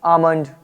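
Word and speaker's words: almond: मेरे दादा का फैसला इन एम डी के एफ चार वर्ड्स से पहले कभी भी आपको एल लिखा हुआ मिल जाए तो ये साइलेंट रहता है जैसे एम से पहले एल है तो आमंड एम से पहले एल है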